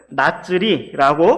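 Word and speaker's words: נצרי: 나사렛 사람이라는 말은 나츠리라고 발음이 되는데 그 역시 히브리 알파벳으로는 우리나라식으로 니은, 쌍지읒, 리을로 표기가 됩니다.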